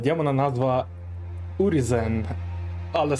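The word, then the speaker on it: Urizen: Та у демона назва урізен, але саме так вимовляється Урізен, судячи з його губ.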